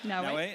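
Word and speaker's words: Naoe: Is it Naue? Am I pronouncing that correctly? Yep, Naue.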